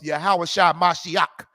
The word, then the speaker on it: Yahawah Mashiach: of Jesus Christ of yahawah mashiach that's how you say his name in the Hebrew Christ spoke Hebrew the